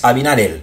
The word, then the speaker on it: Abinader: même ni te bay, gen moun ki di Abinader, m ka comprendre, mais R là c'est comme elle li prononcer en espagnol. Ça veut nous dire Luis Abinader.